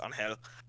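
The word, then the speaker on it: Ángel: So like K49 and his buddy, who's is on Angel, it's just Angel, but it's like a Spanish name, so it's pronounced Angel.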